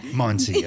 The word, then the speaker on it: Mancia: And Maria Mancia. Yeah. Did I say it right? Mancia. Mancia. Yes. Yep. Mancia.